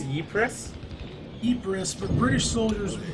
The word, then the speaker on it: Ypres: It's Ypres? Ypres, but British soldiers pronounce it Whoa, Vipers.